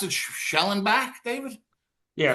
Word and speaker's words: Schwellenbach: How do you pronounce it? Schellenbach, David? Yeah, Schwellenbach. Yeah. How do you say it? Schwellenbach.